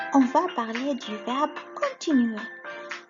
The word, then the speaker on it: continuer: Ensuite, on va parler du verbe continuer. Continuer, يعني كمل. Ça s'écrit C-O-N, con, T-E-T-Nu-E, continuer, continuer, continuer.